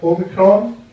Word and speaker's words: Omicron: By the way, it's a bit late for this, but it's pronounced Omicron, not Omicron. What it's Omicron.